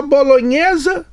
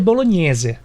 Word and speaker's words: bolognese: e tá certo falar bolonhesa no Brasil ou bolog como que se pronuncia a pronuncia certo É bolognese mas hoje em dia